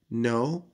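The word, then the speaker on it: know: منها الافعال الغير منتظم نو ني نون يعرف الك مش بتتنطق وير ور ور فيل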